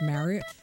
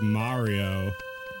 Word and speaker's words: Mario: Mario already I think in Japan they say like Mario or like Mario Mario is what I assume Mario yeah but like uh you know in America people say it like Mario and we say it like Mario Mario and in Great Britain they also say it like Mario they do yeah yeah every like YouTuber that does like a thing about Mario always says it like that Mario it's like Mario Paint